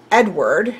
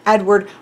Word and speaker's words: Edvard: a norwegian name and i know there's a v here but the pronunciations i've seen or i've listened to have sounded more like edward uh you don't really hear pronounced v now that may or